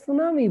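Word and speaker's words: tsunami: উচ্চারণটা টি আসছে যদিও, তার আমরা করব অ্যাজ দে উচ্চারণ, কেন এটা একটা জাপানিজ ওয়ার্ড, এটা টিটা অনুচ্চারিত থাকবে, আমরা সুনামি বলবো, সুনামি রিলিফ।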